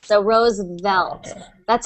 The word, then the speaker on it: Roosevelt: But eventually you'll be able to do that V sound just by lightly touching your teeth on your lips. So Roosevelt.